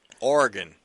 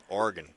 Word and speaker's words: Oregon: Oregon. Say it right. Like Bangor, Maine, Oregon.